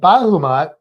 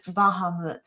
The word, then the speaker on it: Bahamut: We actually say his name wrong. It's Bahamut.